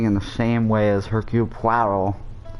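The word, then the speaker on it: Hercule: the same way as hercup that's how you say his name he is french you fancy yourself don't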